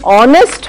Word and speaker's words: honest: We are writing honest with a consonant, we are pronouncing vowel, or that is why we say a honest.